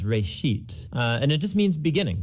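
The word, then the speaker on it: בראשית: Genesis Genesis comes from a Hebrew word it's pronounced rate sheet and it just means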